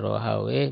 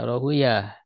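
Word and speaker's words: Rahawayh: Ini biasa ada dua penyebutan, ya. Bisa Rohaweh, bisa Rohuyah. Kalau ahli lugoh bahasa Arab itu lebih senang menyebut Rohaweh, ya, si Pawe, kan gitu. Kalau ahli hadis lebih senang menyebut Rohuyah membacanya. Ya, ini ulama besar, ya, terkenal.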